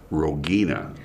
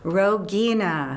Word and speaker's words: Rogina: And it is Rogina. Rogina.